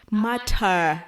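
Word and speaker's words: martyr: to pronounce that word m a t y r matter matter yes like it's not it's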